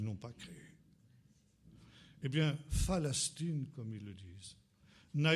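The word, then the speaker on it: فلسطين: la Palestine parce qu'ils ne savent pas prononcer le paix. Le paix en arabe n'existe pas. Et les Arabes disent Phalastine.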